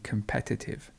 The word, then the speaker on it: competitive: and competition and competitive so the stress moves a little bit so you have competition and you have competitive notice how the stress moves from the i to the e competitive then we've got a